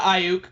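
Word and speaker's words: Aiyuk: you say the arizona state receiver oh uh ayuk yeah brandon i really like that pick i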